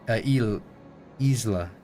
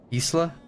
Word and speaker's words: isla: In Spanish, the word Isa is pronounced e Isla with a sharp e sounds like easy. Isla like Isla. Like so it's like Isla Isla de Estreon.